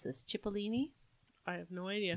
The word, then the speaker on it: Cipollini: My next one is going to be, help me pronounce this, Cipollini. I have no idea. Cipollini.